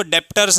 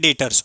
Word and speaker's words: debtors: ठीक है, अब आपको स्पेलिंग दिख रही होगी DEBTORS, तो हम उसको डेप्टर्स नहीं पढ़ते, हम उसे पढ़ते हैं डेटर्स।